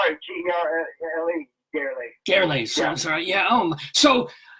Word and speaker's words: Gerle: Gerle is how you pronounce it? Gerle.